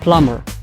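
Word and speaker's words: plumber: الكلمه الثالثه اللي هي بلامر بلامر اللي كيعني بلومبي فيها بي اي ار او بي او اغ ولكن ماكنطقوش الحرف بي فقط كنزلو على او اغ ديريكت من بعد ان الكلمه سبعه اللي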